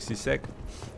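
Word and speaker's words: C-Sec: Они произносят как сисек.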